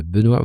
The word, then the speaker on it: Benoît: Aujourd'hui, je suis accompagné de Benoît Vanhonsel. Bonjour Benoît. Bonjour Eric. Alors, pas besoin de prononcer le C pour mon prénom, j'insiste.